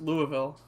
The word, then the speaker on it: Louisville: number 10 Notre Dave dude it's pronounced Louisville I don't give a